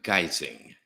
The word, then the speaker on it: guising: It's pronounced guising as disguising.